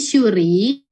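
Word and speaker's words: しゅうり: Syuri itu shi pakai yu kecil, jadinya shu. Shu ya, bukan su. Bukan su, tapi shu. Kalau shu berarti shi pakai yu, shu, terus kan dia panjang ya, berarti ditambah u lagi, shu, ri. Ri doang, nggak pakai tambahan i lagi di belakangnya, oke? Jadi syuri.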